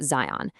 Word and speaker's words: Qon: The digital foundation for all of this is an ethical operating system they call Qon, pronounced Zion.